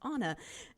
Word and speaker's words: Anna: And I was about to email Anna and say, do you pronounce your name like Anna from Frozen? When she emailed me and said, oh, and by the way, my name is pronounced Anna.